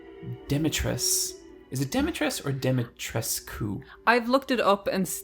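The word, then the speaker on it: Dimitrescu: Capcom themselves lose the U at the end, and it's Lady Demetress. Good girl.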